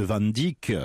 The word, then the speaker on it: Van Dyck: france d'un héritage de van dyck se prononce à la française quand il est venu